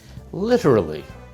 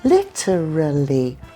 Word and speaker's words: literally: You say literally, 4 syllables. Literally. What do you say then? I can say it the same way, but if I'm speaking fast, I say literally, 3 syllables.